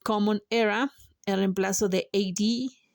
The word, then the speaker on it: AD: AD viene del latín. Anodomini, cuya traducción literal es año del Señor, se pronuncia como dos letras separadas, A, D.